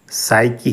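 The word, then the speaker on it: psyche: है पहला यूनानी लब्ज साइ की है साइ की इसमें पी को हम नहीं पढ़ते इसको साइलेंट करते हैं पी एस वाई सी एच ई यह साइ की ल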